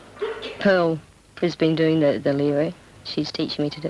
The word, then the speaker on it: lyra: I'm learning this act, the lyra, which actually is a European pronunciation of lyre.